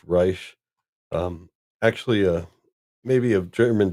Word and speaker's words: Reich: Last name spelled like Reich, but he prefers it to be pronounced Reich.